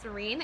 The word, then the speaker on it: Syrein: Like, I wanted to spell it in a really kind of a unique way where it looks like siren, but it's Serene. It's like Syrein. I always love the EI combo.